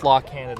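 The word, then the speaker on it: La Cañada: one more time a till day no the la kinata la Kata thank you Ken yeah there supposed to be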